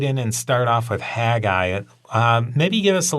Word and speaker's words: Haggai: and start off with haggai uh maybe give us a little bit of the background on haggai like a haggai which in hebrew is pronounced hagai so not much change